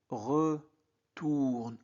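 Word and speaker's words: retournent: On ne prononce past. T. C'est la terminaison du verbe au présent de l'indicatif.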